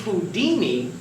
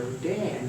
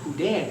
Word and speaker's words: Houdin: into Harry does sounded like Harry he chose Houdini because he was very much influenced by a French magician by the name of Jean Rober hudan who we just spoke about a moment ago